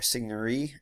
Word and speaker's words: Signorie: it's a game called Signori or signorine Signori that's how you pronounce it and it takes place